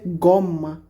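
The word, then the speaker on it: gomma: এটা একটা রাবার তো রাবার রাবারকে ভাষায় বলতেছে গম্মা জি ও এম ডব্লিউ ও এম ডাবল এম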